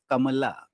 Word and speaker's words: Kamala: pronounce it in Hindi, it is Kamala.